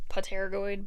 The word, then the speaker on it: pterygoid: see the two different pterygoid bones. So it looks like pterygoid, but the P is silent, just like pterodactyl starts with P, but you don't say it.